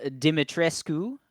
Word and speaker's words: Dimitrescu: Um, Mm, the castle Dimitrescu. I'm going to use nope. the proper pronunciation. It's Romanian. It's a strong family Mhm.